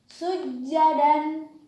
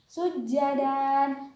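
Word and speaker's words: سجدا: Sujadan. Mana huruf yang termasuk huruf mad iwadnya? Yaitu patah berharokat tanwin. Ya, sujadan. Maka cara membacanya membacanya tidak sujadan tetapi sujada. Sujada.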